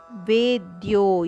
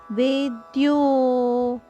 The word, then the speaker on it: ವೇದ್ಯೋ: ವೇದೈಶ್ಚ ಸರ್ವೈರಹ ಮೇವ ವೇದ್ಯೋ ವೇದ್ಯೋ ಎರಡು ದೀರ್ಘ ಅಕ್ಷರಗಳು ವೇದ್ಯೋ ವೇದಾಂತ ಕೃದ್ವೇದವಿದೇವಚಾಹಂ ವೇದಾಂತ ಕೃದ್ವೇದ